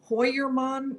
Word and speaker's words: Heuermann: about the pronunciation of heermann and I gather that maybe in German hoyerman might be a better way to pronounce it I went to the